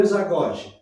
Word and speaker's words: isagoge: Exagoge, se escreve I-S-A-G-O-G-E. Exagoge. Isagoge. É isagoge. Isagoge, termo grego.